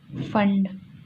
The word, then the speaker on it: FAO: So UNICEF stand फॉर United national international child emergency fund. Okay, तो United Nations international child या children emergency fund. ठीक है, जो next है FAO, इसे फॉ कहते हैं, ठीक है, इसे फॉ प्रोनाउंस करते हैं।